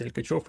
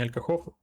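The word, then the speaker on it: Alcachofo: Алькачофо, правильно произносить Алькачофо, не Алькахофо.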